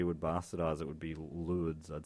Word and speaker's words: Lourdes: is silent in Well, Lord. French, but the way we would bastardize it would be Lourdes, I'd say.